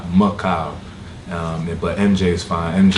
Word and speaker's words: Mehkail: It's actually pronounced Mehkail. Like Mehkail.